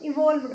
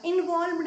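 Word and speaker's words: evolved: कह सकते हैं आप, इवॉल्व्ड होगा, इन्वॉल्व्ड नहीं, इवॉल्व्ड। ओके, थोड़ा सा डिफरेंस है प्रोनाउंसिएशन में।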